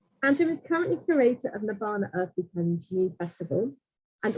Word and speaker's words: Nabanna: early origins of the Nabanna Crafts Mela. I'm going to pronounce it the way we do here. So spelled N-A-B-N-N-A, but we say Nabanna.